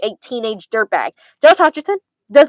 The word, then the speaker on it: Hutcherson: Michael Athen would not look like Josh Josh Hutcherson Hutchinson Hutcherson.